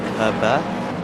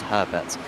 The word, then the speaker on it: Herbert: Dominik Herber uh or Herbert, sorry. But there is I can't believe we got Hubert, so I'm pronouncing everything like it's French. But it is just Herbert uh in 37.